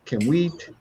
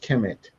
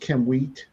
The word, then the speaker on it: Kemet: and the Z2 glyph, I don't think it's pronounced Kemet. I think it's pronounced Kemwheat, the suffix wheat, um, and to be plural and to be people.